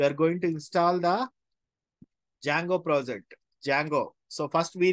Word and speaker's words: Django: is silent okay not Django D is silent actually so it is not